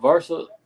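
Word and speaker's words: Verse: They got Jared um Jared Versa. That's how you say his name.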